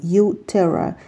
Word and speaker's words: uTerra: in soil when pronounced this name sounds like a combination of the English word you and the Latin word soil U Terra your soil this means